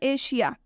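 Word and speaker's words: Asia: देखिए लिखा हुआ है एशिया एशिया मीस ए का उच्चारण कैसे हुआ है एशिया मीस ए का उच्चारण तलाब श से हुआ है ठीक है एक और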